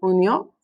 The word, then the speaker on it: unió: Accent on the o, unió.